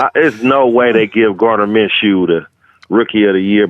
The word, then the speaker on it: Gardner Minshew: Gardner's Minshew's, bro. I know we're saying it wrong, but I'm gonna continue saying that because it's fucking funny. There's no way they give Gardner Minshew the rookie of the